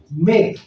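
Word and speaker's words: make: एम ए के ई मेक मेक को हम ऐसे लिखते तो है मे लेकिन इसमें आपने देखा कि क तक का उच्चारण है ई का उच्चारण बिल्कुल नहीं है उसी तरह से टे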